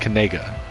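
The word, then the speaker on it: Knigga: according according to him where his family is pronounced kega but you know damn well that's not how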